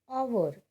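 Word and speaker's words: hour: In the same way, our, H-O-U-R, which we pronounce as R, and O is a vowel.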